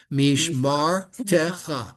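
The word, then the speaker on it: מִשְׁמַרְתְּךָ: Because remember, when we Mishmar have a word with two silent vowels next to each other, Yeah. the second one gets its own syllable. Mishmar techa.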